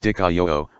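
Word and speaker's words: δικαιόω: whom he named, he also did this, Dikaio, pronounced Dikaio, which is Strong's word number G1344, and means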